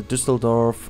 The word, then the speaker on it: Düsseldorf: of Berlin suburban areas, the Düsseldorf, or Düsseldorf, I can just say it in the German pronunciation, why not? I'm German, so I can say so.